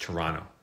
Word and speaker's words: Toronto: shot it in Toronto it's actually pronounced Toronto just so you know I'm telling you how it's pronounced uh but I don't